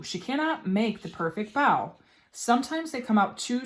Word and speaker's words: bao: what the pronunciation is so bow like foul not like bow so bow amy wu and the